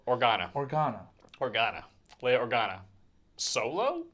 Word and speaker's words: Organa: guys have said leia organo you say or no i said it wrong she's not of spice organo oregano or organa organa organa leo organa